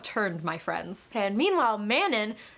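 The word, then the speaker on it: Manon: my friends and meanwhile mannon who I just realized Sarah J mouse pronounces as Manan but will never in a million years ever pronounce it like that so she will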